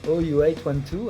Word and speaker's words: OU812: évolue aussi l'album suivant ou812 à prononcé en anglais voit une nouvelle grade